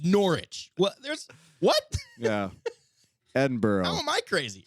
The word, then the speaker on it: Edinburgh: if it was uh if it was located in Pennsylvania it'd be Edinburgh and Greensboro so yeah